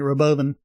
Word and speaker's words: Robovan: of that the Roven it's spelled Rovan but Elon kept pronouncing it Roven this cool looking art